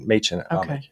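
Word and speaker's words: Mädchen Amick: So this is Machen Amick. Is that how you say her name? Machen Amick. You should know. Yeah, it's Machen Amick.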